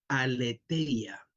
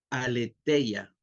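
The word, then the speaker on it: ἀλήθεια: servimos en la realidad la palabra verdad verdad en el griego es una palabra que se escribe aleteia aletea entre la t y la e una H aletea que significa la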